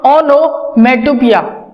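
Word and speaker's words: onomatopoeia: Next is your ओनोमेटोपिया, ओनोमेटोपिया। अब ये है POEI है, लेकिन पढ़ेंगे इसको पिया, प्रोनाउंसिएशन इज पिया।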